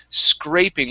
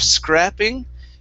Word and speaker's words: scraping: little bit okay um really the only thing here was scraping with a long a sound instead of scrapping it's a okay so